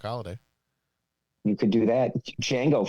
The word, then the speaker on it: Django: Django from Django Unchained. The D is silent.